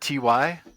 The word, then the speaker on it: ty: And you called it TY? Is that we the correct go with pronunciation? TY. Yeah. Okay. Yeah. I mean, UV. We're not out there trying to police it, but yeah. Yeah. Okay. Well, it sounds like short for type, but TY.